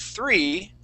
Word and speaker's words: three: pronounce that three okay it has a th sound three try that please three three three okay almost you're very close now that th you're going to stick your tongue between your top and your bottom teeth three three oh i